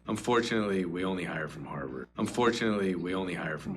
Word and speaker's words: Harvard: Only H from Harvard가 보시면 강세가 only from Harvard.